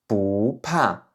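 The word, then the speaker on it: 不怕: Donc ça va pas être un 4e ton mais un 2e ton. Donc encore une fois, ça va se prononcer "bu pa" "bu pa".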